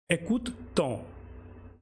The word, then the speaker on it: écoute-t-on: Example is on écoute, écoute-t-on.